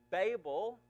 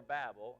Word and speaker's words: Babel: And Babel actually means the the irony of this is that Babel or Babel, I've heard it pronounced different ways, would become Babylon, it would become this great and powerful city in history.